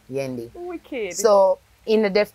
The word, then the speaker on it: Yendi: Yendi.